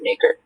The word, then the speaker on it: nacre: in a deposit of nacre. Is there any pronunciation? Is there any alternate pronunciations? This is just nacre. Okay. And it's nacre.